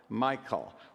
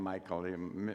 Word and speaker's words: Michal: do you pronounce that How do you pronounce it to distinguish that from the the male name Michael? Misha? Mhm? They call Michal. Okay, the Hebrew pronoun very good.